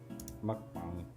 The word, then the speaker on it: mukbang: any explanation mukbang it's Korean that's what it's going to say mukbang okay I was right we just got